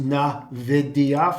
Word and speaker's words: Nvidia: get out of it or it's dropping is Nvidia, and it's pronounced Nvidia for those that want to know the correct pronunciation of it.